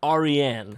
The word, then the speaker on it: Aryan: It's pronounced Aryan. Persian.